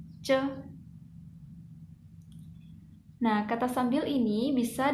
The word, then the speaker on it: 着: Hanzanya seperti berikut ya, bacanya ce.